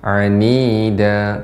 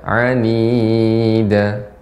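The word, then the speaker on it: عنيدا: Ya, yang panjangnya 2 harakat cukup dibaca 2 harakat saja, seperti anida, tidak anida.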